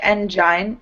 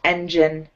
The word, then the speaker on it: engine: Yeah, it looks like engine, but it's pronounced engine. It's actually a short I.